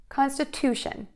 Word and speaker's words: constitution: So make sure that you make this vowel extra long to get that stress correct. And then last, we're going to end with the shun syllable, shun. Consta, to, shun.